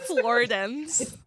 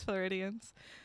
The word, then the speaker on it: Floridians: Floridans. The Floridians. You guys are It's sunny here Floridans. too. Floridians. Yes, Floridians.